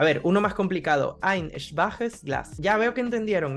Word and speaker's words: schwach: Lo único es que recuerden, schwach, aunque no lo parezca, el adjetivo es schwach y es una sola sílaba que tiene una sola vocal y un umlaut.